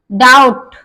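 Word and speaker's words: doubt: यहाँ हमने बताया बी के बाद टी आ जाता है तो वहां भी बी साइलेंट रहता है। डेट, डाउट, डाउट बोलेंगे, इसमें वी साइलेंट है क्योंकि वी के बाद टी आया है।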